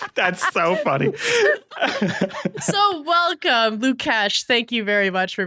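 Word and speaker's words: Łukasz: I'm not the authority on Polish pronunciation, but I believe the S and the Z are sh. So I believe it's Lukasz. Lukasz.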